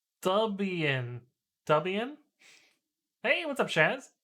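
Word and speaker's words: Debian: It's pronounced Dubian.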